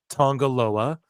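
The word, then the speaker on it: Tonga Loa: N G A G- A L O A Tongaloa.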